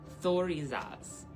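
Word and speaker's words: Thurisaz: Pronunciation, Thor, E, Zaz. Thorazaz.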